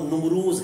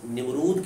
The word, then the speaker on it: نمرود: کے زمانہ میں تھا۔ اس لفظ کا اصل تلفظ جو ہے وہ نمروز ہے، لیکن عام لوگوں کی زبان پر یہ لفظ نمرود کے طور پر بولا جاتا ہے۔ اس کا لغوی معنی